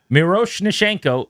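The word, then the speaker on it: Miroshnichenko: Ivonne IV an Miro Nashenko is kind of exactly how it's said to be honest.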